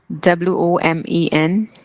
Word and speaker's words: women: the spelling of women w o m e n yeah how is it pronounced women women women oh although it is O we pronounce it as e we all right okay